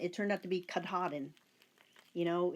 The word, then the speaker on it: Katahdin: I mean, Katadin. It turned out to be Katahdin. You know, it's just different ways of pronouncing things.